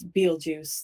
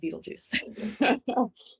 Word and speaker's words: Betelgeuse: It's Betelgeuse, the star, well, Betelgeuse, however you want to pronounce it. I like to say Beetlejuice.